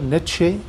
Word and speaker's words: Nietzsche: century another german philosopher net shay that is basically a niche in english is nietzsche here in pakistan he is pronounced as niche though there are a